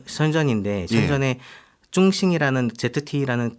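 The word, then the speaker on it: 深圳: 그 화웨이하고 이제 그 중국 발음은 선전인데 선전에 중싱이라는 ZTE라는 그 중국 그 통신 장비 회사가 있습니다.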